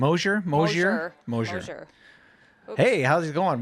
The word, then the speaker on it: Mosier: do you say your last name oh sure Mosier moistures hey how's it going welcome back to